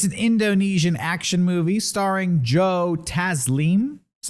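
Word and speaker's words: Joe Taslim: on netflix it's an indonesian action movie starring joe tazleem is how you pronounce it it's the guy who played sub-zero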